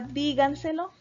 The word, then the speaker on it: díganselo: brújulas se deben tirar la palabra díganselo el acento está en la fila va de verdad en la cuarta posición se tilda porque todas